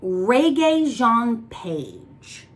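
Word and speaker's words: Regé-Jean Page: not to this up is pronounced where the is it uh reggae jean paige very french i don't know if he's french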